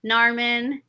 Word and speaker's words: Narmin: A lot of people don't know how to say my name either, so I have to like always say Carmen, but with an N. Narmin.